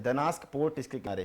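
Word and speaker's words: Gdańsk: तो वेस्चुला, हाँ एक पोर्ट लिखिएगा, इसके मुहाने पे लिखिए पोर्ट है, दनास्क पोर्ट इसके किनारे है। दनास्क जी से लिखा होगा, जी से, जी साइलेंट होता है।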